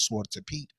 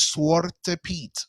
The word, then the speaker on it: Zwarte Piet: We're going to discuss this thing called Zwarte Piet, the origin story of Christ's Mass.